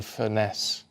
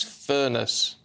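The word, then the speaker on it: Furness: people go on about Barrow in fesse and it's furnace furnace and it drives us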